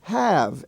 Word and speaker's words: have: bottom you have have h-a-v-e now why is that pronounced have I have no idea it's spelled h-a-v-e and spell and pronounced have now incidentally in the word behave it's regular but by itself h-a-v-e is pronounced have also in the Bear